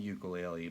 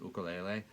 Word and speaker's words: ukulele: and all that now we call it the ukulele but it's actually pronounced oka lele it's a little bit weird right vocal a